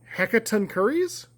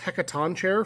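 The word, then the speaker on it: Hecatoncheires: look this up it's hecaton curries it's it's a Greek character I thought it was hecaton chair for most of my life but hecaton curries I think is how it's pronounced uh blue white green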